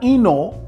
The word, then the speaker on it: Hinault: French men but not Eno and it spelled H AI na ult but it's pronounced like the H is not there's emailed like I ver not Eno won his third tour